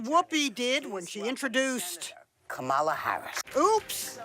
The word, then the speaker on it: Kamala: did when she introduced Kamala Harris oops accent on the wrong syllable its Kamala yeah just think of like a comma and add a lock somebody forgot to tell